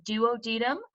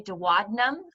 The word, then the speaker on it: duodenum: is going to be the duodenum, or sometimes people say duodenum. I think that's more common. I prefer the word duodenum because that's how I pronounce it.